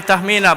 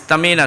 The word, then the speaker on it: Tamina: I used to pronounce her name Tahmina, but then she said no, it's Tamina.